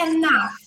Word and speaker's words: enough: E enough. Enough. Esse enough aqui vocês veem que é só um soprinho, né? Na verdade não é nem o som do th aqui. É como se fosse um fzinho.